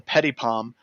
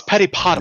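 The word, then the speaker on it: PetitPotam: The first one that I want to talk about is the Petty Palm. Petty Palm vulnerability. Am I pronouncing that right?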